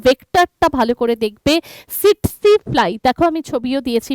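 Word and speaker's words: tsetse: এই প্রোটোজোয়াটাকে বহন করছে কে, ভেক্টরটা ভালো করে দেখবে, সিটসি ফ্লাই। দেখো আমি ছবিও দিয়েছি মাছিটার, প্রথম টিটাকে কিন্তু উচ্চ রাখবে, রেখে উচ্চারণ করবে, দেখবে এসে যাবে সিটসি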